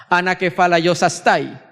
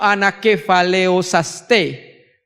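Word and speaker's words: ἀνακεφαλαιώσασθαι: Yo la pronuncio anakefaleosaste, porque en el griego koiné la A con la I es un diptongo y se suena E, ¿sí?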